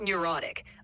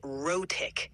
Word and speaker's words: rhotic: No, not neurotic. I said rhotic, which means pronouncing the R sounds in words.